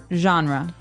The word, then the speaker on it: genre: We say genre. Genre word genre. This kind of sounds French.